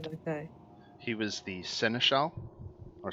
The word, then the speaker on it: seneschal: He was the seneschal or senescal. Oh, How is that word pronounced?